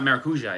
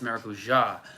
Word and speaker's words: maracujá: I've also noticed in Portuguese, in Brazilian Portuguese at least, the emphasis is quite often on the last syllable. So, like maracujá. Remember the passion fruit? It's not maracuja, it's maracujá.